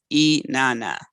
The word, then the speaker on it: Inanna: i pronounce her name so it's e nana i have has here